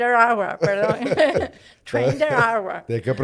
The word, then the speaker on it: Aragua: Está en Raragua. Ah, Tren de Aragua, perdón.